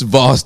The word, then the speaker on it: Voss: it go nice Chris Voss deserves Boss Water and his last name rhymes with Ross So Voss and Ross this was supposed to